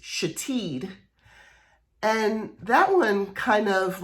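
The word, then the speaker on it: Shithead: the name was spelled s-h-i-t-h-e-a-d but it was pronounced chateed and that one kind of like grabs me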